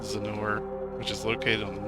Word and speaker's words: Zennor: I've always thought Zennor is a funny name. It sounds like Lenore. Hey, I am pronouncing it right.